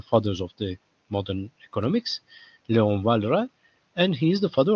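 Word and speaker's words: Léon Walras: the father of these type of models is Leon valra it's pronounced Leon valra uh he's a French or well he can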